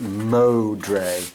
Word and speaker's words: Modre: Mark's last name is pronounced Modre. Modre, Mark yeah.